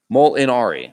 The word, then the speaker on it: Molinari: neck phonetically for me it's mole m-o-l and then in mol in and then ari mol inari molinari it's italian i should have known this that was probably their last name molinari molinari sports and gaming